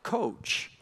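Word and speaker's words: Kocs: that little town is it's spelled k CS but in Hungarian it sounds like coach so their carriages got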